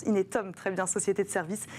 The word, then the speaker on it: Inetum: Mes invités aujourd'hui sont Jean-François Gaudy, directeur innovation et digital du groupe Inetum, comment on prononce Inetum, très bien, société de services et de solutions digitales.